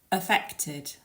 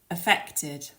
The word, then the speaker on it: affected: you're speaking is to make sure that you put the stress on the second syllable affected affected these words